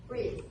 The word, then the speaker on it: Rees: Am I pronouncing it right? Rees.